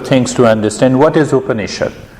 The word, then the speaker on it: Upanishad: What is Upanishad? Upanishad is a Sanskrit word. It has got 3 syllables. Upa, Ni, Shad.